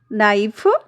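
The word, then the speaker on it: knife: नो नाइफ नी नोक इन सभी में आप देखिए सारी स्पेलिंग्स में ही आप देखिए के जो हमारा है वह बिगिनिंग में दिया तो गया है but when we pronounce it के इज ड्रॉप्ड हियर के को यहां पर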